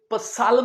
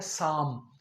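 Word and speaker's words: psalm: पी हम नहीं pronounce करेंगे। एल भी नहीं करेंगे। जिसका मतलब है भजन। आपने इसे पसालम नहीं कहना। ये है साम।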